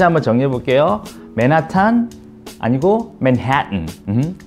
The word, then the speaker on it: Manhattan: 정답은 뭐냐면요, 맨해튼, 맨해튼, 맨해튼. 자, 맨하탄 아니고 맨해튼. 자, 포인트는 뭐냐면요, 맨해튼, 이게 포인트인데, 콧소리가 중요해요.